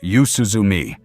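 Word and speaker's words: 夕涼み: The Japanese habit is called yuzuumi pronounced yuzuumi sitting out on the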